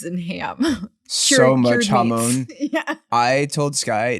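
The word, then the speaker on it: jamón: brought it up, when we first got there, I was like, give me all, it's pronounced hamon, right?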